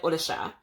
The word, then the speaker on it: Orisha: I know that I learned the word Orisha from a Brazilian practitioner first, and she said Odisha.